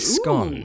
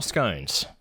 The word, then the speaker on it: scone: made scones I made scon scon or scones what what what did you go for pronunciation SC yeah good scon whereas Americans who don't eat them call them scones yeah work that [